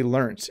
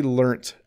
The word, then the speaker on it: learnt: Mode in the chat says, even if you say learnt in a North America with the flap T, it'll sound like learned. That's correct, because when I say learnt, I have to intentionally think about making a T sound at the end. But if I was speaking quickly, if I was reading a sentence, a British English sentence with learnt in it, I would say learnt, learned.